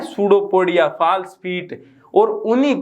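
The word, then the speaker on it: pseudopodia: उनको हम बोलते हैं सूडोपोडिया। सूडोपोडिया, वैसे तो PSUDOPODIA ये लिखा है, लेकिन यहां पर P साइलेंट है।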